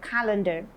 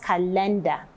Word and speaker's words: calendar: calendar so you have your stress on the first syllable for calendar and not calendar in each of those